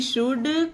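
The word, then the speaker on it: should: word है जैसे कि शुड कुड वुड और एक मुड यह तीन चार वर्ड है जिसमें एल साइलेंट रहता है जब डी से पहले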